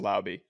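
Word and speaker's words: Laube: We confirmed it's pronounced Lauby.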